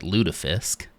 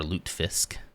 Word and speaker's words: lutefisk: I think we in our American household started calling it lutefisk. I don't think that's how it's pronounced. I think it's more lutefisk, which is a gelatinous